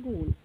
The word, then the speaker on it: gaol: देखते हैं गोल, GOAL, गोल, और जो सेकेंड वर्ड है GAOL, गोल, तो पहले वर्ड का मीन्स क्या होता है लक्ष्य, और सेकेंड वर्ड का मीन्स क्या होता है जेल, ये इनका भी साउंड समान है, लेकिन इनका मीनिंग और स्पेलिंग अलग अलग है।